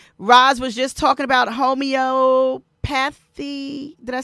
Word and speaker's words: homeopathy: Roz was just talking about homeopathy. Did I say, how do you say it again? Homeopathology. Am I saying it? Homeopathy. That one.